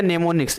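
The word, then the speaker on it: mnemonics: हैं इस प्रकार निमो अच्छा निमोनिक्स बोलेंगे एम साइलेंट है तो निमोनिक्स मददगार होता है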